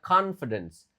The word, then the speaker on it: confidence: Nah itu ya, confidence. Jadi O itu sangat jarang dibaca O dalam bahasa Inggris. Jadi kayak ini cara bacanya confidence.